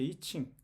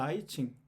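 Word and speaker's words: I Ching: 영어로는 2층이라고 하는 거죠 이칭 또는 아칭 또이 발음이 두 가지인데 이건 발음이고 이건 발음인데 어찌됐건이 영어에서 이렇게 발음한다는 거죠 그리고 이제 이걸 체인지의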